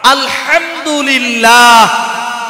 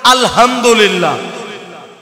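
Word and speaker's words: الحمد لله: হা আলহামদুলিল্লাহ, সমস্ত প্রশংসা কার? আপনি এখানে যদি বড় হা উচ্চারণ না করে বলেন আলহামদুলিল্লাহ, তাহলে এর অর্থ দাঁড়াবে সমস্ত ময়লা আবর্জনা আল্লাহর জন্য।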